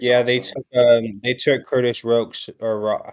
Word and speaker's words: Rourke: they took Curtis Rokes or how do you say it? Rourke.